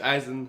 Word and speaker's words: Eisen: You know, it would be nice if Rich Eisen said Bison because it rhymes with his name, but, you know, can't hold it against this guy.